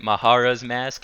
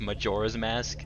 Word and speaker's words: Majora's Mask: pronunciation is wrong, because I pronounce it Mahara's Mask. Everybody says it's Majora's Mask. Yeah, I'm pretty sure it's Majora's Blood. Nah, it's fine. Because so I just kind of pronounce the J okay, the same way.